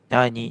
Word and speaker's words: nyanyi: Right so in English the closest "ny" sound is like when you say onion. On-nion. And also when you say lasagna. La-sa-gne. The ny is in there.